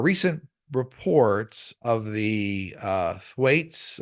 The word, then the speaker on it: Thwaites: reports of the uh Thwaites I think it's pronounced Thwaites th h w AI t s Thwaites or doomsday Glacier increasing